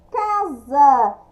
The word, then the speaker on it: casa: Casa, escrita com S, mas a pronúncia com Z.